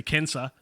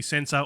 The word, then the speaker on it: censor: in learning latin um it never occurred to me that in fact censor is actually cancer um or cancer yeah